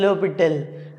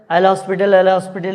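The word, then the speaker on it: L'Hôpital: Okay, वैसे इसका सही प्रोनाउंसिएशन लोपिटल है ना, एच और एस बोलते नहीं है, पर इन जनरल एल हॉस्पिटल लोग बोलते रहते हैं।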